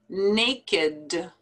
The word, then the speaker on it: naked: verbs and that's because these are not verbs these are actually adjectives so the pronunciation is a little bit different from the rule that